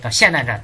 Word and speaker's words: 霰弹: 然他出了散弹战，但是没，霰弹战，哎呀，怎么老是念成散弹呢？